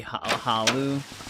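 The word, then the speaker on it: Hlaalu: It could just be Halu. The one L could just be silent.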